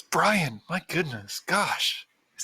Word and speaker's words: Brion: They're gonna be like, no, dude, it's Brian. It's Brian Stewarm. Let's see. The second T is silent.